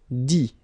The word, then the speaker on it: dit: Alright, dire, I-R-E, will become I-T, dit. Okay, phonetically, same thing here, you don't pronounce the final T.